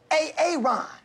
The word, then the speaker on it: Aaron: I said it like four times, so why didn't you say it the first time I said A-A-Ron? Because it's pronounced Aaron.